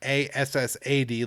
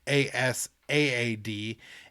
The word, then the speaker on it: Asaad: It's not Assad like Bashar al-Assad, but Asaad.